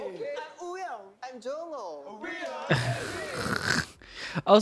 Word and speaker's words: Wooyoung: I'm Wooyoung. I'm Jongho. We are Oh, so it's like Wooyoung?